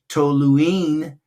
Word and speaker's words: toluene: And it's actually, that is a toluene. Toluene is a three syllables there.